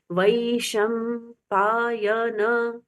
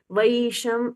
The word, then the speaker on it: वैशंपायन: वैशंपायन उवाच, न उवाच, उ रस्व उवाच। वैशम, इसको हम बोले वैशम नहीं करना है। वैशंपायन ये रॉन्ग उच्चारण है। वै और ई स्पष्ट स्वर सुनाई देते हैं।